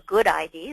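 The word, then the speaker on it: GUDID: come together in the good ID that's the gud ID they pronounce it good ID where we're getting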